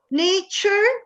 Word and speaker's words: nature: no problems anyway so nature this final t-u-r-e is pronounced char so nature picture uh